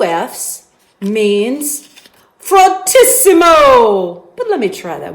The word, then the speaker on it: fortissimo: Fortissimo. I roll my R. Fortissimo. Can you say fortissimo? That's kind of fun to say. So fortissimo or fortissimo, if you roll your R's real good, it's going to be very loud.